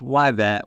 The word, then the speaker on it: Yvette: friends uh I'm here with my new friend wet she is a wonderful uh food Justice Advocate and doing the Lord's work out in Dallas um Reverend Dr wet so it's pronounced wet which I want to get into R Blair